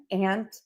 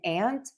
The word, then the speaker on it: aunt: Also quite the um topic of discussion is are these words pronounced the same? Aunt and aunt or are they pronounced different? Aunt and aunt. You can actually do either. I say them the same.